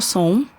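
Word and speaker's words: Sohn: é Som. Como se escreve? Acho que é importante, que a galera... Som é tipo som. Som é tipo, Som. som. É o bullying da vida, né? Mas escreve S-O-H-N.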